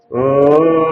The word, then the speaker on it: ಓಂ: ನಮ್ಮ ಚೆಸ್ಟ್ ಮ ಕಂಠದಿಂದ ಅಕಾರ ಉಕಾರ ಮಕಾರ ಸೇರಿ ಓಂಕಾರ ಓಂ ಇಸ್ ದ ಸಿಂಬಲ್ ಆಫ್